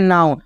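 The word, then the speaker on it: now: यहां पे क्या है नाउ आपको नो नहीं पढ़ना क्या पढ़ना है नाउ अब यहां पे क्या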